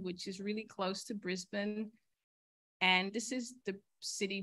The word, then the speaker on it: Brisbane: was going to Brisbane but here it's pronounced Brisbane and Australia itself is